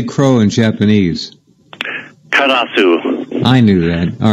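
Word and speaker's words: カラス: Karasu.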